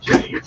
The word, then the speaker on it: Jakes: Joe Jakes, yes. Gotta say Jakes. You gotta give the French pronunciation.